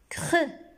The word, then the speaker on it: creux: Creux. On ne prononce pas X ici à la fin de creux.